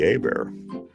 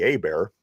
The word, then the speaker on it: Hebert: And I was like, "It's Bobby Herbert." And I'm pointing at it, spelling it out. And it ended up being Bobby Hebert. But there's an H in it. You should pronounce the H.